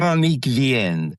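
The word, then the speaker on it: Véronique Vienne: It's Veronique Vanaye. Is that how you say her name? Veronique Vienne.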